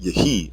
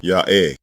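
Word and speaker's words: היה: The verb become is pronounced yehi in Masoretic Hebrew, but again we are deleting this e vowel from the dialect. The original pronunciation is simply ya'eh. The initial ya is heard as the consonant.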